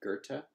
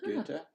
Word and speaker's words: Goethe: So they like say, if you can't pronounce O umlaut, try pronouncing it with ER. And that's why you hear people saying, Goethe for Goethe.